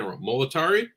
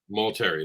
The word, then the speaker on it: Multari: say your last name i always feel like i'm saying molotari maul terry multery there we go i knew i was